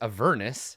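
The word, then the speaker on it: Avernus: that it's called it's a Vernis not a Vernis like I've been pronouncing it my whole life the internet is ruining my childhood pronunciation of everything rhymes with a furnace I mean so I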